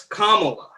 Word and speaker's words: Kamala: Don't mispronounce her name. Is it? It's Kamala. It's Camel A.